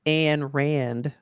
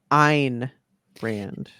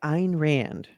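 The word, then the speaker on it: Ayn Rand: Anthem by I always thought her name was an Rand but it is Ein Rand yeah okay by Ein Rand right is it pronounced a that's why I've always said it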